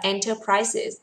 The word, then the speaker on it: enterprises: Từ tiếp theo là từ enterprises. Nhớ từ này có đuôi C's chứ không đọc là enterprise. Đọc là enterprises.